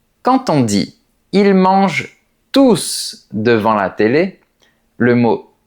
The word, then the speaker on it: tous: On dit tous les jours sans prononcer la lettre S. Mais on dit ils mangent tous en prononçant la lettre S. ? Et bien, parce que la règle dit qu'on ne prononce pas le S de ce mot s'il qualifie le nom qui est juste après.